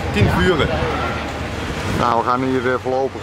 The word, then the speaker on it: Cienfuegos: Ger, hoe spreek je deze plaats een beetje knap uit? Cienfuegos. Cienfuegos.